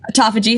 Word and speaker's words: autophagy: so basically I can get into I always pronounce this wrong autophagy aagy autophagy thank you um and so I'm really looking